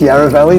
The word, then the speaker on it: Yarra: __ ] that is firstly it's yara valley not yara let's let's do some fighters guys it's yara valley okay don't mispronounce it because otherwise an australian's